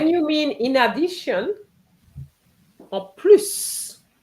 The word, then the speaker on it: en plus: En When plus, you mean in addition, en plus. Because en it's in addition, you're adding, so you add the S as well.